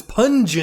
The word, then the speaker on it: Pun-geon: And then I said it wrong, and you're like, no, it's Pun-geon.